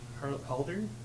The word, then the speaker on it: Haldir: Haldir?